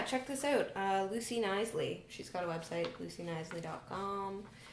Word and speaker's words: Knisley: how to say it it's k k n i s l e y silent k yeah Tri me up